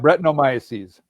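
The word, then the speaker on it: Brettanomyces: Breton brutanomis is that how you say it right? Yeah. Bretonomiases.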